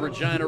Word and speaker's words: Regina: Regina, once referred to by Mick Jagger as the city that rhymes with fun, at a Rolling Stone